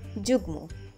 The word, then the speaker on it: যুগ্ম: যুগ্ন অনেকে উচ্চারণ করে থাকেন যুগ্ন। সঠিক উচ্চারণ যুগ্ম।